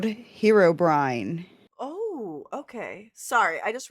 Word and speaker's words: Herobrine: His name is Herobrine. Hero Brine. Yep. It's spelled Hero and then with a one word combined. B R I N E. Herobrine. like you're brining some food.